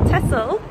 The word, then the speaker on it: Texel: on the way to texcel otherwise pronounced as tessel we learned anyway had